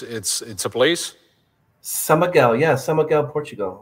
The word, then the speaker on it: São Miguel: Are you like around Summergal in Portugal?